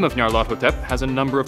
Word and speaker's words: Nyarlathotep: hard to say, so I'll just anglicize the hell out of it and say Nyarlathotep. That way it reflects some of the Egyptian origin of the name, since Hotep is an Egyptian word meaning to be at peace.